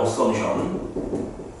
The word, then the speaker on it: assumption: 영어로는 assumption. P가 묵음이야. assumption.